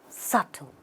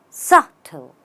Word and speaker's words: subtle: that way you say subtle the B is silent it's subtle it's subtle very subtle